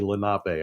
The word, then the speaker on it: Lenape: actually just recently heard the Philly captain in one of his videos say Lenape. I was like, you said it right.